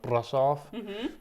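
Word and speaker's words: Brașov: It's pronounced Brasov, but something like that.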